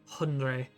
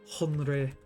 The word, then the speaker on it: Hunray: Hunray. Hunray. It's like Henry, only silly.